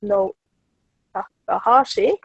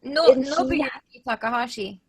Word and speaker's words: Nobuyuki Takahashi: at Worldcon, it was a Japanese journalist called No Takahashi. I did not pronounce that right, I am sure. And Nobuyuki Takahashi.